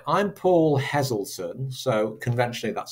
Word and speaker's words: Heselton: the letter and then I spell it Heselton. But when I say it, I don't say Paul Heselton. I say Paul Heselton. So it's a Z. It's a Z. Heselton.